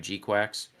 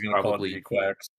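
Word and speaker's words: GQuuuuuuX: designs for gqu and I'm saying it like that cuz apparently that's how they pronounced it when I saw the movie I could have sworn I was hearing G Quacks still but I'm always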